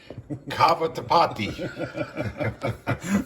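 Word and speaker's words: cavatappi: Cava tapati.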